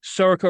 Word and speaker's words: Sorcha: Joining me today, Sako Richardson.